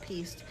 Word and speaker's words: Piest: His last name is pronounced Piest.